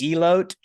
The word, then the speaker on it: elote: You could have like fucking elote while you're fucking playing it. Which I know I say that word whiter than anybody else. It's pronounced elote. I can't not say it super white.